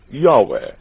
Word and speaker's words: Yahweh: Many pronounce it Jehovah, while others pronounce it Yahweh. No one today actually knows how it was pronounced in olden times.